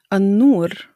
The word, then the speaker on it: النور: In the word النور, which means light or the light, we don't pronounce the lam in the al tarif and we emphasize the noon.